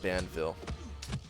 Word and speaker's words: Banville: Should have said Banville. Rhymes with Anvil.